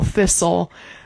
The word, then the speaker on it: thistle: a word where the T is just not pronounced at all. Like bustle, castle, thistle.